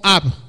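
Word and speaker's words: אב: La palabra Padre en hebreo solamente tiene dos letras y se pronunciaría algo así como Ab. Una A y una B en nuestro castellano con nuestras letras.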